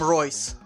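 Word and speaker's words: Reus: trouble with giving people names let's call him royce royce i can dig that nice it's spelled r-e-u-s okay it's the camera should be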